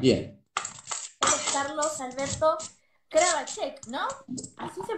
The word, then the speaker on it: Kravacek: Él es Carlos Alberto Kravacek, ¿no? ¿Así se pronuncia?